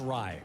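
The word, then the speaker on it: Aaron Rai: It's pronounced Ry, right?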